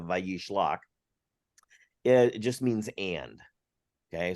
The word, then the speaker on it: Vayishlach: So Vayishlach, the name of the Torah portion, the Vav at the V sound at the beginning of Vayishlach, it just means and.